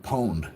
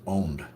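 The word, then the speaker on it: pwned: And by the way, if you see the word owned spelled with a P, it's not pronounced poned. It's still pronounced owned.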